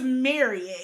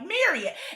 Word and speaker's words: Marriott: So most people say Marriott or lots of I don't want to say most people but lots of people especially in the south Marriott. See they actually it's Marriott. Yeah. They actually pronounce their name like Marriott. Exactly. The way I always remembered it is how some person told me was like, "If you love it, you'll marry it."